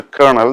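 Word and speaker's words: colonel: rank in the army though it is pronounced kernel the spelling is c o l o n e l the tricky area is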